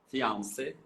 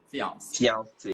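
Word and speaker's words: fiancé: norte-americana ou estadunidense e ela falou Olha eu não vejo diferença na hora de falar mas também ela é uma palavra que vem do francês então teria diferença de pronúncia entre fiance sendo noivo e noiva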